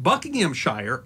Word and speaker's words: Buckinghamshire: word Shire every Britain will tell you that Buckingham Shire Oxford Shire and bedfordshire are pronounced buckinghamshire Oxfordshire and bedfordshire the reason is